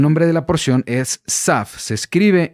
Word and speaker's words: Tzav: sav okay el nombre de la porción es sav se escribe y se pronuncia de esta forma y